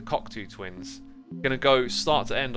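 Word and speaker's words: Cocteau Twins: That's how they say it, actually, the Cockatoo Twins.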